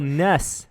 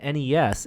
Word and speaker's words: NES: each other on because according to Nintendo Japan's some official documentation the pronunciation of Nintendo is ness yeah so we're right that's interesting that's interesting because it is an acronym right it should be NES but it's just been embraced as ness mm-hmm yeah okay there's